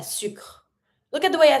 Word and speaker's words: sucre: And same for sucre, don't pronounce the last E.